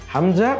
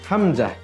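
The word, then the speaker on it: ء: পরবর্তী হরফ হলো হামজা হামজাটা আলিফের মত আলিফের যেমন কোন মাখরাজ নেই হামজারও মাখরাজ নেই হামজা অন্য হরফের সাথে মিলে উচ্চারিত হয় এজন্য আমরা সবাই আরেকবার উচ্চারণ করি হামজা হামজা আমরা একেবারে ক্লাসের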